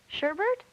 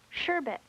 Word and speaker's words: sherbet: Sherbert? No, I'm afraid not. Oh, I see. I added an R. Sherbet.